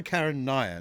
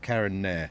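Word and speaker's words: Karun Nair: Our pronunciation of Cisaden being one of them and it's also Karen Nyer not Karen N.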